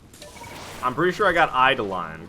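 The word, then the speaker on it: Eidolon: pretty sure I got eye to line correct I I idle on e-i-d-o-l-o-n I'm pretty sure it's idle on um and then I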